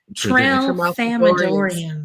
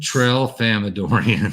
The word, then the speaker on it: Tralfamadorians: the same thing as now I'm going to pronounce this wrong every time, the Tralfamadorians. Oh, yeah. Tralfamadorians. Tralfamadorians.